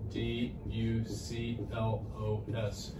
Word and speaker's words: Duclos: larmic duplo which is the syndrome and i'll spell that it's called l h e r m i t t e do chloe d u c l o s their meat duclos syndrome they can have this